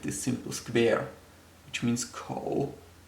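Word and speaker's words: 口: So here on the left, we have this simple square, which means ko, also third tone, and ko means mouth.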